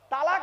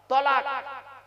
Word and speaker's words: তালাক: যত বেশি চালাক সেই মেয়ের কপালে তত তাড়াতাড়ি তলাক কি বললাম তালাক নয় তলাক তালাক মানে জুড়ে যাওয়া মিলিত হওয়া একত্রিত হওয়া